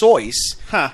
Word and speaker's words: Seuss: Seuss, the way it's spelled, it's German. It's supposed to be Dr. Seuss because he wanted his name to rhyme with rejoice.